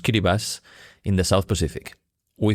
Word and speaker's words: Kiribati: belong to the Republic of Kiribati, pronounced Kiribati, in the South Pacific.